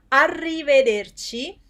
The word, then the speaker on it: arrivederci: say goodbye to someone arrivederci it's uh one two three four five syllables goodbye which literally means